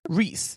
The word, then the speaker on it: Rice: Zev Eleff, who's the president of Gratz College, and we will be discussing, this time, Rabbi Abraham Rice, or Reese, but it's spelled Rice, R-I-C-E, but we will talk about a pronunciation.